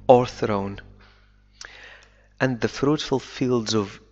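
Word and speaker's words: o'erthrown: V ووضعت مكانه apostrophe إنه في بعض اللهجات الإنجليزية لا ينطق V في هذه الحالة ونقول فقط or thrown and the fruitful fields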